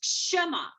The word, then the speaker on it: Kshama: That is Kshama. KSH. The K is silent.